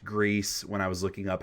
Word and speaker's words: Gris: the music for Greece which I Learned was pronounced Greece when I was looking up how to actually pronounce Neva I thought it was Gris and they specifically were like no it's Greece like saying the the word Greece um but